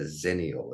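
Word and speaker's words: Xennials: term for that I was calling it a zenal it's spelled XE n n i a LS so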